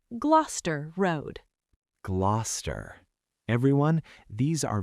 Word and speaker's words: Gloucester: And the last one, Gloucester Road. This is a tube station. It is not Gloucester, it is Gloucester Road.